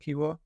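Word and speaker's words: Kiwior: Is that how it's pronounced, Kiwor?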